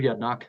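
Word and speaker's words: Yedinak: you let's go on to miss yep Mr yednak welcome morning can you hear me okay yes sir morning chairman distinguish legislators my name is yednock that's spelled ye d i n AK and I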